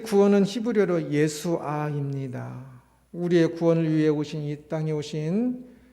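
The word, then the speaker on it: ישוע: 그 히브리어로 예수아입니다. 이 뒤에 자음이 하나 더 써서 다르게 표현을 하긴 하지만 완전 동일한 그 발음입니다.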